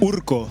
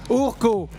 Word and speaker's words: Urko: Je le prononce comme il faut. Urco. Urco.